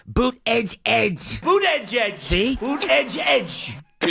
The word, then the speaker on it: Buttigieg: That's not how you say it. Pete Buttigieg. Not how you say it. Everything Bernie does, he gets wrong. It's boot edge edge.